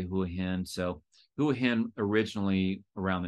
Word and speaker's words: Hua Hin: understand and learn the right way to say who a hint so whoahan originally around the 1900s was known